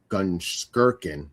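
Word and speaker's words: Gunskirchen: Well, it and you were close in your pronunciation. It's actually Gkirkin.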